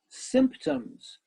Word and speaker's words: symptoms: on this page was symptoms symptoms only two syllables symptoms but you have an M and a P and a T right next to each other like this mm-hmm that's an